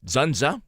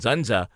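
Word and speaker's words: Dzundza: But according to the rest of the cast, Zunza, spelled with a D is silent, Zunza, was mean and a bastard and very difficult.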